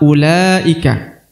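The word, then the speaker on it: أولئك: Yang pertama ulaika. Ya, dipanjangkan 2 harokat karena di depannya terdapat waw sukun ya.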